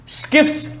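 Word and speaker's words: Schiff: तो सबसे पहला टेस्ट है स्किफ्स टेस्ट, इसको शिफ्ट्स भी बोलते हैं बहुत लोग, दैट्स ऑल्सो राइट प्रोनाउंसिएशन।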